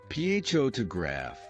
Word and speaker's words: photograph: For instance, in the word photograph, the stress is on the first syllable, photograph.